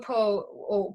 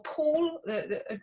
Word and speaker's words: Pole: Okay, so Reginald Pole, or Paul, how we pronounce it is debated, was basically Henry's cousin,